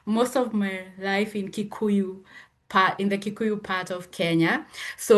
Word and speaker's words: Kikuyu: realized that man certain things are hard to pronounce, but I took notes. You said Meu and Kiku, right? Kikuyu Kikuyu.